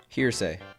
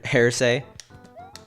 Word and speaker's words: hearsay: it's been a while hearsay hearsay that sounds good not hair say this hair spray is